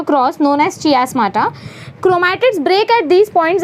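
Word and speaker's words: chiasmata: इसको हम बोलते हैं चियास्माटा। क्या बोलते हैं? कायस्माटा बोल सकते हो, चियास्माटा बोल सकते हो, आपके ऊपर डिपेंड करता है आपको कैसा प्रोनाउंसिएशन याद रहेगा।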